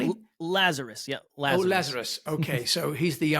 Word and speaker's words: Lazaros: Is that how I : pronounce his name correctly? : Lazarus, yeah, Lazarus.